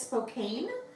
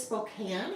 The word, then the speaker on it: Spokane: Some people look at it as Spokane. It is Spokane, even though there is an E on the end, the E is silent.